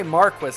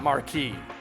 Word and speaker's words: marquis: to marcus wagner and they say marquis not marquee i always thought that word was pronounced marquis but uh marquis sure